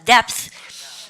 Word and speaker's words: depth: 발음 어려워 잘 봐요. 요까지 읽으면 depth 하고 나서 th가 뒤에 아무것도 없죠. 모음이 없으면 쌤이 어떻게 혀를 입 사이로 내고 성 돌리지 말고 발음을 갖다 depth.